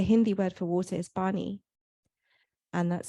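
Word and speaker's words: pani: pain because the Hindi word for water is Barney and that's spelled p-a-n-i so it's just a rearrangement of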